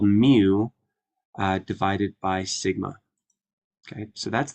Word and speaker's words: mu: so this is the Greek letter and it's pronounced mu okay and then this one here is also